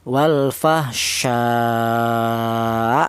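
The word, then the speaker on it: والفحشاء: Cara bacanya hamzah ini, ini dibaca nabir yaitu ada pada penekanan suara wal fahsya seperti itu.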